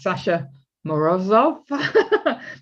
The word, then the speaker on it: Sasha Morozov: Her name is Sasha Morzovv. Did I pronounce that right, Sasha?